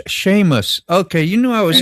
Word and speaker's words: Seamus: I said Seamus, and that should have been Seamus.